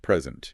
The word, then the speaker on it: present: that before for example take the word present present yeah if you stress the first syllable it means a gift right present but if you stress the second syllable it means to give something oh present like giving a presentation exactly so word stress